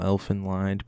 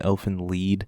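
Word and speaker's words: Elfen Lied: quick after credits scene here I know I might be mispronouncing the title Elfin lined because I've been told before it's actually elf in lead so apologies if I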